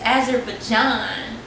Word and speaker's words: Azerbaijan: Yeah, I can't believe I pronounced the name wrong. It's Azerbaijan.